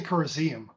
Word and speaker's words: Corroseum: I always went with Corroseum because it sounds more like museum, and it's definitely That's a good.